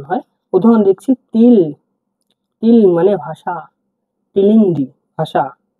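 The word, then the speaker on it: тіл: এর মত ঠিক আছে টি মানে তর মত উচ্চারণ হয় প্রথম লিখছি তিল তিল মানে ভাষা তিনদিন্ ভাষা ঠিক আছে তিল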